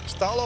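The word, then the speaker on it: stal̓əw̓: It's pronounced stallo awesome and that is native native American stall.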